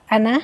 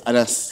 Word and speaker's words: Annas: Anna? Yes, Annas. Annas.